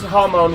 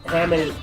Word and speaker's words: Hamon: Yeah, I mean, it's Hamon, which is, it's Japanese for ripple, but Hammond is like English pronunciation of that Japanese word, basically, so.